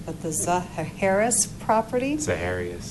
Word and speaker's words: Zaharias: correctly because I'm from Minnesota, my mouth doesn't pronounce things correctly, but the Zaharias property? Zaharias, thank you.